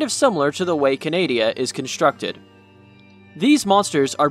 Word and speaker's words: Canadia: Paleozoic Canadia is simply just Canada with Ia at the end, another short one that most folk will just look over.